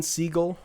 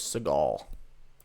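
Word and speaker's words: Segel: to us yeah but uh it's it's jason siegel right that's how you say his name i thought it was seagal i thought that was like oh wait yeah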